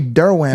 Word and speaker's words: Derouen: I said, how you say it? He's like, Derwin.